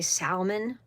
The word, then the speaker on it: salmon: When people say salmon, they say salmon. Salmon. What? The L is silent.